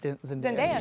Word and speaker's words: Zendaya: Zendaya made a surprise appearance. Is it Zendaya?